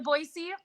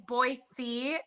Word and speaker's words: Boise: i've never been to boise which for those of you who don't know it's boise and they know you're out of state so it's boise and there's different a